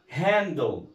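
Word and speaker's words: handle: طيب يبقى عرفنا كده ان حرف ال اي او اي كلمه بتنتهي ب ال اي، ها، بعمل ايه؟ بضم اللي قبل الايه؟ ال. طيب في عندنا كلمات تانية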